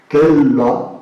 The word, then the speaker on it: cella: importante de la antigüedad se pronuncia el singular esquela kella con doble L y el plural es